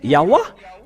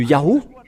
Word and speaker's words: Yahweh: Si vous avez écrit le Ya, ils doivent aussi mettre le terme A à la fin pour que ça soit Yahweh. Ils devraient prononcer Yahweh.